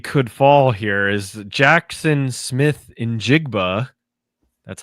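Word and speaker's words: Smith-Njigba: Another record that quietly could fall here is Jackson Smith in Jigba.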